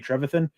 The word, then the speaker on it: Trevathan: Marshall used to be when we had Danny Trevathan.